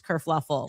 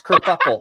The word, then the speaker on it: kerfuffle: Prince Harry abdicates England, causes this whole race kerfluffle. Oh no, it's kerfuffle.